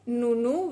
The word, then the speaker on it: Nounou: O sea, realmente me flipaban las fotos de boda, veía unos trabajos increíbles y me llamo Nunu, ¿vale? Pero se escribe No No.